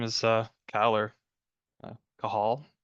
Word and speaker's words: Cajal: name is uh ker kahal which is spelled a little weird so I usually go by Cal but I'm the associate